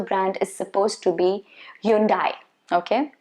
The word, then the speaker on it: Hyundai: the correct pronunciation so the last syllable is supposed to be day but we i think